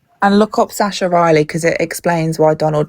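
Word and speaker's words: Sacha Riley: Um, Sasha Riley, it's spelled S A C S H A Riley.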